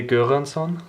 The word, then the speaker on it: Göransson: I would say Göransson. Göransson? Göransson.